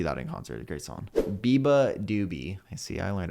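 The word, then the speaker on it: beabadoobee: I would see that in concert great song Biba doobie I see I learned how to say her name Biba doobie Biba is cool because um I was watching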